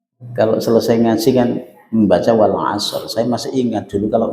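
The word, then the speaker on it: والعصر: Jadi bunyinya itu jangan sampai wal as shad terus rnya hilang. Gak boleh. Gak boleh juga dibaca wal asr juga gak boleh.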